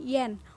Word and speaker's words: yuan: Dalam bahasa Indonesia dilafalkan yen, walaupun dalam bahasa Tiongkok berbeda pengucapannya dan merupakan satu kesatuan bunyi.